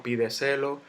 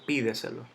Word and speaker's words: pídeselo: vemos última sílaba pídeselo yo no digo pide celo ni pide celo yo digo pídeselo entonces llevo la tilde